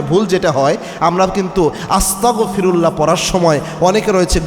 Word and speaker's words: আস্তাগফিরুল্লাহ: ক খ গ এই এই গ দিয়ে উচ্চারণ করতে হবে অনেকে আস্তাগফিরুল্লাহ বলে ক দিয়ে উচ্চারণ করে তো এটা করলে যেটা